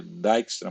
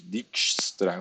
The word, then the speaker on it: Dijkstra: Esse nome é um nome aí europeu, então normalmente eles, em inglês se pronuncia Dijkstra, mas tem gente que diz Dijkstra, o que torna mais difícil, né? Então normalmente esse J aqui não é pronunciado Dijkstra.